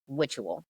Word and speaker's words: Witual: And so it's spelled like witch. Witual.